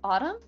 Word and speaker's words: autumn: habon I love fall Autumn we can we call it the other word Autumn but I can't spell it oh yeah there's an N at the end for some reason autum it's like baloney VNA